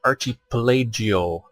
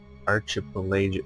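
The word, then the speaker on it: archipelago: the equator a tropical climate yeah dead fire Archie pelagio lake Archie Archie pelagic CEO at what time is pronounced arch but in the case of me it's pronounced pronounced arc arc st.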